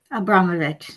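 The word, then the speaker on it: Abramović: Is that how you pronounce her name? Abramovich. Abramovich. Okay, thank you.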